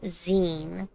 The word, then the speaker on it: zine: a little bit creepier it's pronounce z I like Z though but I get it magazine Zine learn about the Mysterious